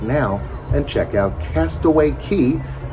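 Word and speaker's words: Castaway Cay: now and check out Castaway Key spelled c a y but it's pronounced key and it's Disney's Island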